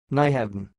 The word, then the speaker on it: Nyhavn: word you are watching it sounds like n hav n I will repeat more